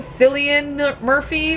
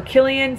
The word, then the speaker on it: Cillian: dude acted out by I think you pronounced the same Cillian Murphy or Killian still I think it's Cillian Murphy his name is Tommy